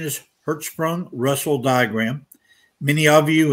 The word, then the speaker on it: Hertzsprung: such things as the hr diagram now the pronunciation is hertzsprung russell diagram many of you in astronomy 101